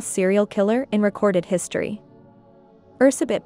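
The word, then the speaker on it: Erzsébet: killer in recorded history Ursa bit Bathory known by the English pronunciation Elizabeth Bathory was born in the year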